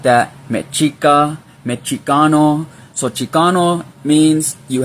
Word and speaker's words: Mexica: because Mexico, you know, the X is pronounced, it used to be pronounced like a ch. The Spaniards used to pronounce it like that, Mexica, Mexicano.